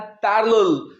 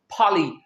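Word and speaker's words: parley: आपने इसे पारले नहीं कहना। This is पाली।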